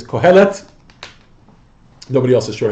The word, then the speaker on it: Qohelet: I'm pronouncing that correctly in Hebrew it's qohelet nobody else is sure